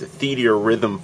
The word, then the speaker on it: Theatrhythm: Today I'm going to be showing you the Japanese demo to what I believe to be pronounced as Theatrhythm Final Fantasy, a music game that features music from across the entire Final Fantasy RPG series.